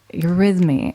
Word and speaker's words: eurythmy: And this new, I did want to just talk about this because I mentioned it earlier with eurythmy is a whole nother art form that I've just recently discovered.